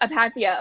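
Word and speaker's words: apatheia: critique of Apathy, and am I saying that right? I'm not a Greek. Okay, I'm not a Greek scholar by any means, but then I'm saying it right. Yeah, Apathy, something like that. Apathia. Okay, yeah, fine.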